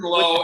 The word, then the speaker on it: Lowe: Nathan Lowe the and same Brandon name. Lau. That's why he says that. Okay. One's moving on. pronounced Low, one's pronounced Lau, and Robert finds it endlessly hilarious.